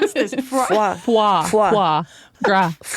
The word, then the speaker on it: foie gras: Um You said frog wah. Yeah, you added like an R.